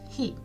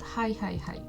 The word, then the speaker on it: へ: It's like he he he he smiling he he he not hi hi hi. So keep that in mind.